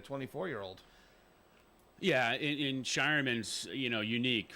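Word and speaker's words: Scheierman: key cog but the Celtics drafting Baylor to pronounce the name right shyan um and then they picked up Anton Watson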